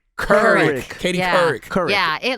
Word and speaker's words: Couric: It's Couric. like cur. Couric.